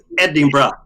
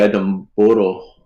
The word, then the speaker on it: Edinburgh: my daughter that you have to sp to pronounce the eddie barrow edwin it's edinburgh yeah yeah yeah and most people say adam boro yeah he said he brought him edinburgh yeah